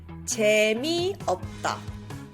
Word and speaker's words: 재미없다: 재미없다. 재미없다. One more time. 재미없다. Notice how the S on the end there is silent.